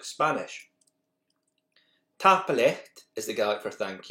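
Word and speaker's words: tapadh leat: Tapalecht is the Gaelic for thank you, but it changes to tapalive for polite and plural.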